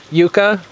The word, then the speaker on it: yucca: really worthy of debating because yuka spanish that's the pronunciation usually when you're talking about it when it comes to cooking then most people say yucca when you're talking